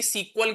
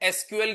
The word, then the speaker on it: SQL: तो अगर कोई आपसे पूछे कि सीक्वल क्या होता है? एसक्यूएल क्या होता है? तो वो एक ही चीज है। अलग-अलग कुछ नहीं है। पुराना नाम सीक्वल था लेकिन वोवेल्स को क्या कर दिया गया?